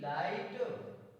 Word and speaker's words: light: For example, N आई जी एच टी नाइट, जी H silent है, ना plus आई plus टा, MIGHT माइट, GH silent है, LIGHT लाइट।